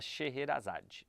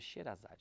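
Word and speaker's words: Sheherazade: Record vamos falar da sherrerazade na verdade é xerazad né se escreve sherrerazade mas vamos falar da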